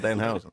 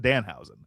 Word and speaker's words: Danhausen: Hey, I'm Danhausen. By the way, you put the emphasis on the wrong part. You put emphasis on the Hausen. It's just Danhausen.